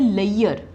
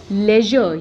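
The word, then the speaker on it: leisure: clear next word लेजर इसको अक्सर हम मिस प्रोनाउंस करते हैं लेयर बट इसकी करेक्ट प्रोनंसिएशन क्या है लेजर य साउंड है जो दूसरे वर्ड्स हैं प्लेजर मेजर ट्रेजर तो यह साउंड है हम इसको प्लेयर नहीं बोलेंगे प्लेजर बोलेंगे वैसे ही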